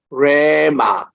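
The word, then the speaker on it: ῥῆμα: 발음으로 나오잖아요 그리고 레마 뭐 로고스하고 우리께서는 그냥 레마 이렇게 애가 깁니다 레마 이렇게 긴데 r 발음 앞에 약간 히읗을 섞여 다른게 좋습니다 크레마할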